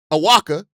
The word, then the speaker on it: Awaka: A guy like Tobia Awaka uh uh Awaka is how you pronounce it. Tobia Awaka.